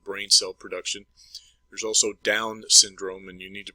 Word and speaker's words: Down syndrome: cell production there's also Down syndrome and you need to pronounce that correctly it's not Downs it's down syndrome and that's a defect